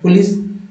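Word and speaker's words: police: क्यों बोल रहे हैं क्योंकि ओ जो है दोस्तों सिर्फ ओ ही नहीं उच्चारण हो रहा है ओ का उच्चारण अ भी होता है आ भी होता है ऊ भी होता है तो ये हो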